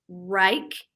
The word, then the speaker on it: Wrike: It's a system that supports those initiatives, and then also I think it's pronounced Rike. It's WRIKE, and that's a collaboration tool with teams with a bunch of integrating applications that are really highly used and popular.